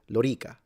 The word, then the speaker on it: Lorica: Just like Romanum, the O is long, or Lorica, the O and the E are both long. As an Italian, I would say Lorica.